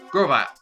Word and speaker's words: Grovyle: name of grovel gravel Grovyle that's why it's pronounced Grovyle that's one piece the work of art people